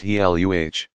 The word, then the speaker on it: Gila: Two lizards are known to inject venom into their prey, the Gila, pronounced Heluh, monster, and the Mexican beaded lizard.